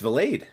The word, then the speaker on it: Valade: Uh you're right it's Valade. It's Valade according to baseball reference Valade.